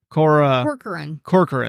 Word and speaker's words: Catherine Corcoran: You pronounced it right when we did this the other day. Corcoran.